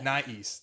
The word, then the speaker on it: nais: this uh brand called nice nice but it's not East right cuz it's a tal word right and it's spelled